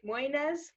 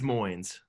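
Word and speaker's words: Moynes: there's two blake m's lake moynis um it's moines that's how you say it okay either way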